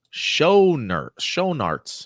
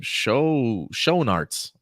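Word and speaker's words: Schoenaerts: of Tomorrow casts Mathias Sher sharts how the do he even pronounce his last name show sharts in villain role uh I believe that's how you pronounce it mathas sharts Belgian actor U has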